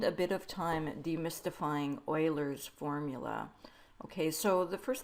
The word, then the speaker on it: Euler: an easy one to fix um this is pronounced Oiler so this is what Oiler formula looks like